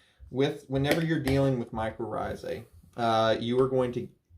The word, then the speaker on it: mycorrhizae: a fungus and uh it's uh pronounced mycorrhizae for anybody that brutalizes it like i used to